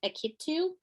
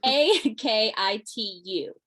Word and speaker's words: Akitu: please forgive my pronunciation akitu don't come for me how do you spell that a-k-i-t-u um how would you pronounce it akitu yeah akiti okay oh there you go so